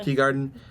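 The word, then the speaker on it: Teegarden: And then Skye is played by Amy, how would you pronounce it? Teagarden? Yeah. Teagarden.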